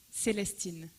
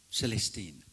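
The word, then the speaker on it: Célestine: it called Ernestine in French how do I pronounce it correctly in French Ernest a a Celestine Celestine yeah um so as you can see uh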